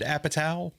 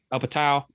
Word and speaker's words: Apatow: Judd Apatow movie Whatever how do you sound his damn last name Judd Apatow up a towel and I was like